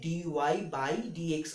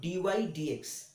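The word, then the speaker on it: dy/dx: একটা জিনিস আমি বলে দিই, অনেকেই একে ডিওয়াই বাই ডিএক্স উচ্চারণ করে, ডিওয়াই বাই ডিএক্স উচ্চারণ হবে না, তোমরা একটু ভালো করে এটা মাথায় রাখবে, এটার উচ্চারণ ডিওয়াই ডিএক্স।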